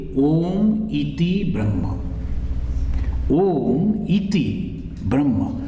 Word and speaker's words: Om: So a and u, when comes together, it becomes o.